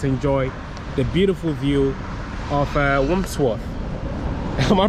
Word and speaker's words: Wandsworth: I don't know, I can't pronounce the word. It's Wandsworth.